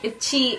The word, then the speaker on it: ITZY: Itzy or Itzy? Yeah, somebody said it's like itchy, itzy. Or like in English it's itzy and in Korean it's itchy.